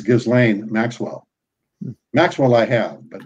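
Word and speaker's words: Ghislaine: I think it's Ghislane Maxwell.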